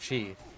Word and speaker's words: chi: power stronger or whatever Chi or key it depends on how you pronounce it I'm pretty sure both are valid yeah like Kung Fu